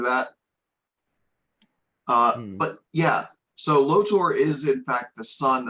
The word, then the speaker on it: Lotor: oh I've been saying his name wrong. Lothor is the bad guy from Power Rangers Ninjastorm. Prince Lotor is a guy from is a bad guy from Voltron. Sorry, it's Lotor. Lotor Lotor.